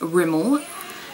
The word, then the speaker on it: Rimmel: um i bought some i say remember but um it's pronounced rimmel um london and they're